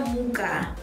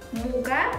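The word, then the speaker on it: мука: Kata-kata ketiga itu ada muka. Muka the pronunciation is right. Jadi cara pengucapannya itu muka seperti bahasa Indonesia yang artinya wajah.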